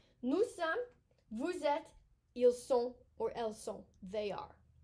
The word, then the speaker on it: sont: And then il or elles sont. Sont. We're not pronouncing the T.